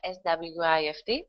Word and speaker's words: SWIFT: we don't pronounce it S-W-I F-T... we pronounce it SWIFT.